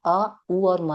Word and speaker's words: ओम: हम डायरेक्ट उ और म करते हैं। बट होता अ उ और म है।